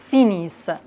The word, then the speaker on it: finissent: Comme toujours, on ne prononce jamais ENT. Ils finissent.